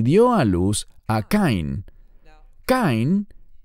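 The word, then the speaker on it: קַיִן: a luz a Caín caen es la pronunciación en hebreo del nombre Caín en español y Caín o Cain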